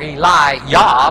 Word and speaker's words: Elijah: go so alive jaw or Eli yeah because there is no J in Hebrew everything is pronounced as a wise sound thus Jehovah instead of